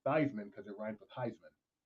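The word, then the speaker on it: Theismann: his chances of winning they decided to start pronouncing his name thyman because it rhes with Heisman but up until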